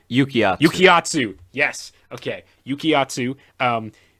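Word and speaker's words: Yukiatsu: just popo quotes um uh yaikatsu did i pronounce that right yukiya yukiyatsu yes okay yukiyatsu um crazy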